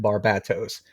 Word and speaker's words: Barbatos: being built up and they pronounced it barbatos which makes sense to me because everything in metal is a bat pun and even more so in Death Metal um but what what